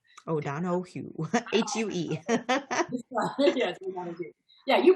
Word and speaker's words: O'Donohoue: donahue has no ace in it so it's oh don oh hugh oh don oh hugh h-u-e yeah you pronounced it perfectly but the spelling is that